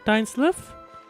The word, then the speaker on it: Dainsleif: Dainsleif? They just pronounced it Dainsleif. I kept thinking he's pronounced Dainsleif, but I guess not. I guess not.